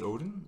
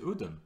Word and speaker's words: Odin: So of course, how do you say Odin in Swedish? Odin. Oh, Odin. You say Odin. Yeah. It's not Odin.